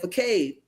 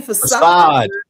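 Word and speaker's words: façade: So they just taking the pages, and nobody noticed that you said facade. What the? You mean facade?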